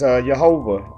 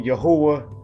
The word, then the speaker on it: Yahuah: All right, but for this sake, I'm going to pronounce it the way the concordance did. All right, So it says Yahuah, all right?